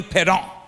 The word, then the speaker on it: Parent: in Philadelphia guy named Bernie pedon pedon but spell parent Pon but spell parent